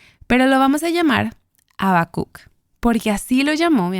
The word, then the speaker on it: Habacuc: nosotras está siquiera cerca creo que una pronunciación correcta podría sonar algo así como habakuk no me pidas que